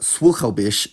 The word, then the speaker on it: słuchałbyś: When the conditional is formed, the stress doesn’t move- it stays where it was on the original past tense form. So “You (male) would listen” is słuchałbyś, and even more weirdly,